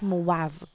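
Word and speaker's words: de Moivre: or abraham them okay we pronounce this as movav them okay in 1667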